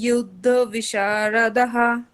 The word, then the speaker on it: युद्धविशारदाः: सर्वे युद्धविशारदः বিশারদা, বিশারদা দীর্ঘ, তারপর বিসর্গ, বলুন আবার। सर्वे युद्धविशारदाः বিশা আকারটা স্পষ্ট আসবে।